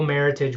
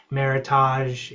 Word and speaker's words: meritage: I'm I'm I'm happy that that Kim, you know, we make merit we make multiple meritage wines. And just to touch on that, you know, maritage, often mispronounced maritage, English word came about in 1988 to help describe um blending with the Bordeaux varietals.